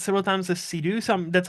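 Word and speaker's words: Seydoux: Isn't it Leia Sidhu? I always heard it pronounced like that, so I don't know.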